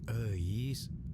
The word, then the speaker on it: Euis: Eis. Itu tuh nama Sunda, bro, dibacanya Eis.